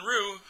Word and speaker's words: Ryu: He told everybody to call him Ryu, not Ryu.